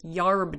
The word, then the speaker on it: herb: And it was much the same with folk medicine, or what they particularly called herb doctors, the healers, or in the Southern Appalachian pronunciation, yarb doctors.